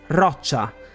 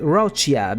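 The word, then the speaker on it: Roccia: in this specific case the r pronunciation is roacha and it simply means Rock like those from a cliff I would have been okay with roia because for whatever reason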